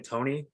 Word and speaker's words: Toney: Tony.